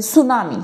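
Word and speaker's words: tsunami: त्याचं स्पेलिंग लिहिलं जातं यामध्ये टी आहे पण तो सायलेंट आहे तर अशा पद्धतीचे इंग्लिश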